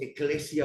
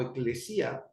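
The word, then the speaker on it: ἐκκλησία: cosa es iglesia iglesia es una palabra en griego que se pronuncia más o menos eclesia o eclesia y que por su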